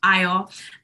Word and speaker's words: Ayo: fact about my name it's a Nigerian name and it means Joy it's pronounced IO and you know I